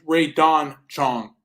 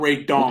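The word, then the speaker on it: Rae Dawn Chong: I think it's Ray Don Chong, not Ray Dong.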